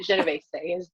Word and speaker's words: Genovese: Well, you nailed it the Canadian way, but Genovese is the Italian way to say it.